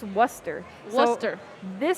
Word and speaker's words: Worcester: on stream before, but there's this way of pronouncing the name of the place we are in right now, where it looks like it's spelled Worcester, or Worcester. Worcester. But it's pronounced Worcester.